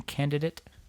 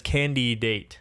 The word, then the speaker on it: candidate: They say just think about it as candy date.